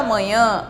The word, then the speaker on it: manhã: A forma de falar, de pronunciar. Manhã e manha.